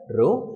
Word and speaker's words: rho: this one this one you need to pronounce it as rho and what does this